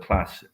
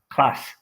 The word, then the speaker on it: class: mean um you know I pronounce the word class like that class um a lot of my colleagues at Oxford pronounce it class and there you have